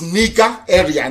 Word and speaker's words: Nigeria: long as nigeria does proper pronunciation not knowing nigeria is the nigeria it sounds a bitter okay the proper name is nika area nigeria if you go